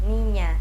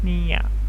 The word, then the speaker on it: niña: One trick to pronouncing this sound is by saying the word onion, Onion. or canyon. Canyon. It kind of sounds like a combination between an N and a Y sound, doesn't it?